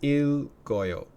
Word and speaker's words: 읽어요: Now notice the pronunciation on that. Because there's two consonants here, this consonant does what's called liaising, so its sound comes up here, so it's 읽어요.